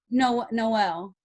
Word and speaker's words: Noel: Noel. Like it's like no way.